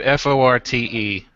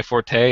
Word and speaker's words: forte: There's pronunciation ones like the word forte, as in a strength that you have, right? It's not my forte.